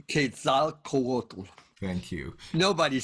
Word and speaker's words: Quetzalcoatl: I never know if I get it pronounced. Quetzalcoatl.